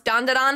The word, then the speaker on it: Dan Da Dan: was not confident that dondon is how you pronounce dondon but I was having so much fun saying